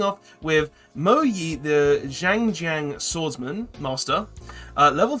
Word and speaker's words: Xiangjian: I believe the X is pronounced as a Z. So it's Xiangjian, and I don't know what these are going to do.